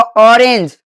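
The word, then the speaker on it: orange: जैसे ओ का उच्चारण ओ भी होता है और आ भी होता है।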